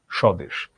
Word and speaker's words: স্বদেশ: শব্দের প্রথমে ব্যঞ্জন বর্ণের সাথে যদি বফলা থাকে তাহলে বফলার কোনো উচ্চারণ হয় না।